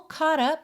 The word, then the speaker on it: caught: e a pronúncia é Cot Cot Pensa num o com acento agudo e depois já o t sendo que esse T